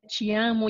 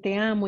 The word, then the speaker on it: te amo: costumbres del país y por qué se pronuncia chi amo y por qué se puede pronunciar también te amo, igual que el español.